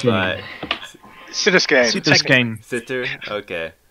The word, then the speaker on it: Siter: Siter, okay. I like to say Siter because it sounds like spider.